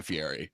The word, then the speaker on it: Fieri: Like in the past couple of years, he has gone to try to pronounce his name like more authentic Italian. Fieri.